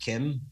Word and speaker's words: Keem: Do you know, like Keem Bay, as people pronounce it, but the locals pronounce it Kim.